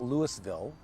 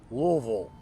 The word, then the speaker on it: Louisville: So this is not Louisville, and it's definitely not Louisville unless you're just trying to, like make nice with the locals. But it's two syllables, Louisville. You have to kind of swallow it together.